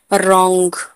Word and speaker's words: wrong: आर से पहले डब्ल्यू आए तो डब्ल्यू साइलेंट होता है। रॉन्ग, WRONG, रॉन्ग, रॉन्ग, sorry, रॉन्ग, रॉन्ग में आर से पहले डब्ल्यू है तो डब्ल्यू साइलेंट है।